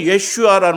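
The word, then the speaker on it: ישוע: 예수라는 말은 예슈아라는 말이고요. 구원자라는 말은 야시아라는 말이에요.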